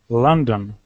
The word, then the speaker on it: London: london london london yes the first vowel is ah like in up because we have an o a letter o often has um the sound ah like in love and come and the second one is a schwa sound like london london okay